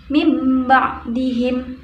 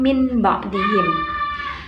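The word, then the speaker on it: مِنْ بَعْدِهِمْ: Pada nomor 1 dibaca mim ba'dihim, mim ba'dihim, bukan min ba'dihim.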